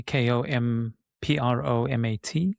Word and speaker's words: kompromat: Ron, do you know much about kompromat? Is that Is that how you say it? K K O M P R O M A T, kompromat.